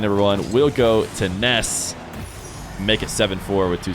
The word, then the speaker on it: Nass: real jar just asked it is pronounced Ness I have talked to him a few times about it because of course English speakers will read his name as Nas I feel like the